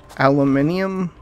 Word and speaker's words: aluminium: copper them aluminum alumin how's it how do they say it in uh England aluminium I guess that's the right way to say it uh we may be